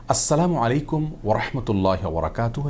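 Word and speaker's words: السلام عليكم ورحمة الله وبركاته: উচ্চারণে সালাম দিয়ে বলেছিলেন আসসালামু আলাইকুম যার কারণে আসসালামু আলাইকুম ওয়ারাহমাতুল্লাহি ওয়াবারাকাতুহু এভাবে বিশুদ্ধ উচ্চারণে আমাদেরকে সালাম দিতে হবে তাছাড়া আসসালাম এটি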